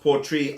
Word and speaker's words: Port Ruighe: Now, it looks like it's spelled Port Ruighe, but it's actually pronounced Port Ruighe after the city in the Isle of Skye, or actually the port.